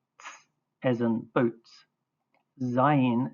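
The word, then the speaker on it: זין: Zayin is pronounced z as in whiz or Zion.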